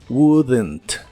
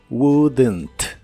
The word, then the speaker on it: wouldn't: de esta palabra pero sí se le agrega un sonido como de e suave entre la d y la n wouldn't wouldn't la tercera parte que